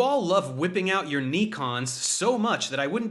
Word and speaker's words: Nikon: You all love whipping out your Nikons. Okay, Dumb Dave, it's called a Nikon, not a Nikon.